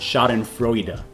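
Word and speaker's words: Schadenfreude: fraud pool okay so google's telling me that that word is pronounced shot and froida all classic sneakers are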